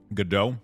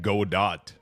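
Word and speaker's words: Godot: I think it's GDO from what I was listening to the video. I think I was watching video yesterday and I was like, why are they not pronouncing it go dot?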